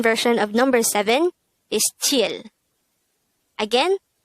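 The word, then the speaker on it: 칠: sign the korean version of number seven is chill again it's tier this is just composed of three hangul characters and just one syllable pronounce it with me chill chill how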